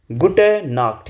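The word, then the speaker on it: Gute Nacht: Good नाइट को आप लोग बोलेंगे गुट ना। गुट नाक् यहां पे ख वाली साउंड आनी चाहिए।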